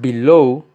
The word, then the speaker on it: below: de sobre la pronunciación below lleva la acentuación o la fuerza sobre la última sílaba low be love y